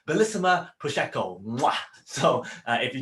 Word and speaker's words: Bellissima: And if you ask her, it's actually pronounced Bellissima Prosecco.